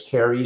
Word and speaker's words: Carie: Again, our guest today was Carie, spelled Carie, last name Bailey, Bailey, founder of a company that I did pronounce correctly called Veracai.